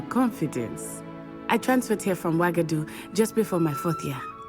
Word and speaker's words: Wagadu: Oh, it is pronounced Wagadu.